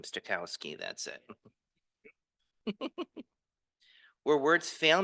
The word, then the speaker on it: Stokowski: Stokowski, that's it.